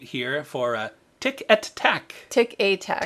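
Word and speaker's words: Tic et Tac: Tick a tack. Tick a Tack. I never say it right. Chippendale. It's Chippendale. E-T is A in French.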